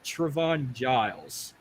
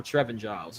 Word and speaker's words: Trevin Giles: Gabriel Bond film versus Trayvon Giles or Trevin Giles I'm sorry yeah I'll go with the second guy yeah okay yeah I've been seeing his name wrong it's Trevin guile Giles or Guile's whatever all right main card here